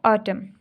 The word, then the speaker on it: autumn: Next है बच्चों ऑटम, AUTUMN, इसमें एन साइलेंट है, ऑटम, ऑटम, ठीक है, इसमें क्या साइलेंट है, एन।